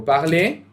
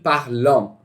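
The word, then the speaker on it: parlent: Cuidado aqui com a pronúncia, não é il parlant, é il parle, ok? Extremamente importante isso, não pronunciem o ENT.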